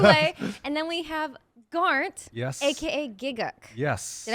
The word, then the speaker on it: Garnt: And then we have Garnt, Yes. aka Gigguk. Yes. Did I pronounce that correctly?